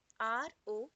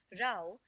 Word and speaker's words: row: in the first one rao that rhymes with cow this means quarrel or